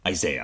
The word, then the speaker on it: Isaiah: So it's this idea that in the prophecy of Isaiah, I should say, Isaiah is the British pronunciation, in the prophecy of Isaiah, he sees the seraphim calling out to one another.